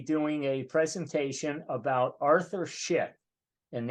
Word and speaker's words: Szyk: Today, coming up on June 3rd, we're going to be doing a presentation about Arthur Szyk, and that's spelled S-Z-Y-K, although it's pronounced like the razor.